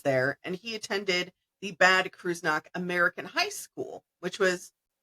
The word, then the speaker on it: Bad Kreuznach: Bad Kreuznach. It's in Germany. So John spent his teenage years there, and he attended the Bad Kreuznach American High School, which was on base, with